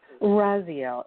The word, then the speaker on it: Raziel: Raziel. It's spelled R-A-Z, R-A-Z-I-E-L.